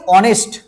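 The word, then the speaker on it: honest: আমরা বসাবো না তো দেখ মনে রাখবে এইযে অনেস্ট এইযে অনেস্ট দেখো এই অনেস্টের যে তোমার লেটার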